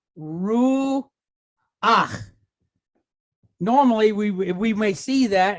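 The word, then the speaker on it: רוּחַ: This is a furtive patach. We're going to flip it because it's following these rules. So we're going to pronounce the vowel sound and then the consonant sound. So we end up with ach, right? So what is the word here? We have ru ach.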